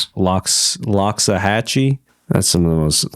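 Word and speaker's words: Loxahatchee: Lockxahhatchee.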